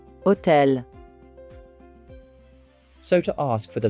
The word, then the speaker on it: hôtel: But in French, we do not pronounce the letter H. For example, hôpital. Hôtel.